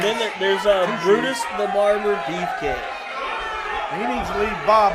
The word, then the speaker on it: Beefcake: Briefcase is going down. Beefcake. Seriously, how come you guys cannot pronounce this guy's name? It's not that hard. Beefcake.